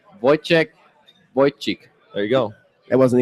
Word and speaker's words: Wojciech: How do you pronounce his name? Wojciech.